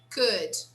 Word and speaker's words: could: Now, could. We never pronounce the L here. We say could.